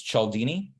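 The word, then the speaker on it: Cialdini: um the author's name of that book was chaldini uh it's it's spelled c-i-a-l-d-i-n-i okay that's c-i-a-l-d-i-n-i and the book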